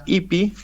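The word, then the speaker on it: Ypi: que se llama lea ipi ipi se escribe yp y latina Eh Tuve oportunidad de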